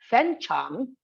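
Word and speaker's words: 粉厂: the second one is both are third tone with a falling and rising both are deep low dipping toe but two tone threes are not possible hence the first syllable of tone three will be changed to tone two so it becomes fen charm now this is very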